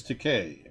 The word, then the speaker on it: Takei: uh george takei yes i said hello mr takai and he goes actually it's takei rhymes with okay i said sorry the